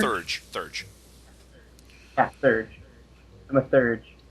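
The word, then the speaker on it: Theurge: can't remember how to pronounce that. Or Thurge? Thurge.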